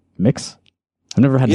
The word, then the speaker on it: Mx: It's not Mr. or Mrs., but it's MX Mix.